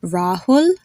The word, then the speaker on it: Rahul: pronounced only one way it's pronounced the way you would pronounce a double o in any English word like in the word fool drool cool like in the name Rahul o cool you hear